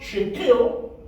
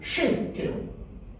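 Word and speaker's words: שקל: To show you that this word, which has got 2 syllables, shek and kel, is accented, stressed on the first syllable. So the word is not shekel, in other words, put emphasis on the second syllable. You put emphasis on the first syllable. The word is shekel.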